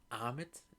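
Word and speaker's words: Ammit: I think it's Amit is how you pronounce the god's name, and Arthur Harrow essentially wants to resurrect this god, and yeah.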